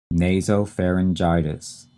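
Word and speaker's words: nasopharyngitis: What is the medical term for the common cold that is acute nasoperitis.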